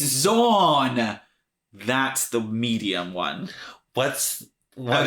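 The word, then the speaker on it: Xorn: It's Zorn! That's the Medium one. What is that? Zorn? Zorn. Like rhymes with corn.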